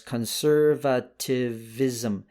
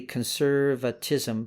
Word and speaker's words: conservatism: i don't know why i kept spelling conservatism wrong i put it out there as conservativism conserve is that right conservativism conservativism so it should be conservatism but a conservativism i put an extra syllable in there weird huh